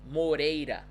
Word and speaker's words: Moreira: 3 R's there, and they all should be pronounced the same way. So we would say Maria Moreira.